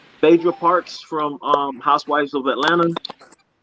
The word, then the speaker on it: Phaedra: Her first name is spelled P-H-A. P-H-A. Oh. Yes. Oh, Phaedra.